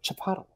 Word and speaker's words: Chipotle: And the guy was like, Chipotle.